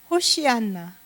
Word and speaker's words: 호산나: 호산나, 호산나 그랬어요. 그죠? 호산나. 히브리어 발음은 호시안나.